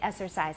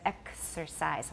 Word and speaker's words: exercise: to write it so it's K s it's two separate consonants two separate sounds although it often gets simplified into the flute in Taiwan English so exercise some people say exercise instead of exercise watch that hmm okay you should